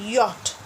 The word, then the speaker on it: yacht: we have learned it in our senior kg y a c ht yacht this is pronounced as yacht air transport people use air